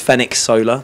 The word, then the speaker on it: Fenech Soler: the official way, the official way uh is Fen Solar.